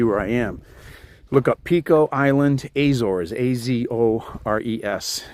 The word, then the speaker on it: Pico: In Portuguese, it's pronounced Pico, right? But in English, we would call it Pico.